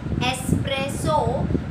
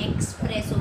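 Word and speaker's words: espresso: Okay, you must all know that what is एस्प्रेसो, बट उसका pronunciation आप एक्सप्रेसो करते हो, तो वो एक्सप्रेसो नहीं है, एस्प्रेसो है.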